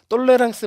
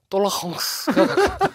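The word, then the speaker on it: tolérance: 똘레랑스 맞고요. 프로식 발음은 똘라헝스. 똘라헝스. 똘레랑스가 아니구나.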